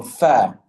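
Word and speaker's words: ف: That is to use the tips of the front upper teeth, especially the front two, fa, okay? And you use that, you connect them with the wet part of your bottom lip. So fa, f, uf, and if.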